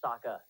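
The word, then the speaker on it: Sokka: itself all the time my name's Saka rhymes with AA and Waka Waka Flaka waka waka how about p and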